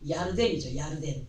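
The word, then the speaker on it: ירדן: 본문에서의 첫 내용이 너희가 요단을 건너 여리고에 이른즉 하셨는데, 이 말씀에서의 요단은 요단강을 말하는 것으로 요단의 히브리식 발음은 야르덴이죠.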